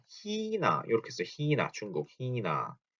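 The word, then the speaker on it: China: 자, 희나 이렇게 써요. 희나 중국 희나. 자, 요거에 대한 발음, 츠이하 발음에 대해서 말씀드리면서 이거랑 힘이 이런 얘기도 했을 거예요.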